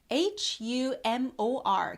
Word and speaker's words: humor: H-U-M-O-R. 그래서 H가 들어가거든요. 그래서 유머가 아니라 영어로는 humor 하셔야 됩니다.